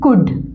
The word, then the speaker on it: could: ओ यू एल डी कुड यहां पे ल एल जो है वह साइलेंट है इस व से कुड ना पढ़े कुड मे माइट एम